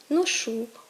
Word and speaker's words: ношу: так мають наголос правильно Вони мають наголос кінцевий коли помилковий наголос він кореневий цей наголос теж зумовлений діалектним оточенням переважно і переважно впливом південно-західного наріччя тобто правильно казати ношу ходжу пишу і можемо спостерігати зовсім